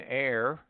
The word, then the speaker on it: heir: Omit the H in heir, heiress, herb, honest, honor, ostler, hour, humor, and also in their derivatives.